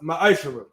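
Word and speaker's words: מעשר: It means tenth in Hebrew and is pronounced ma'ashara.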